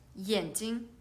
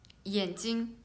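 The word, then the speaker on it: 眼睛: So we can see the only one difference is second syllable, the one is the first tone and one is the fourth tone, so they have the different meaning.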